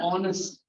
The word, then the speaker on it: honest: Honest. No H. This is honest.